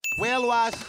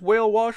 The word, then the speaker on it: Whale Wash: Whale wash rhymes with gosh.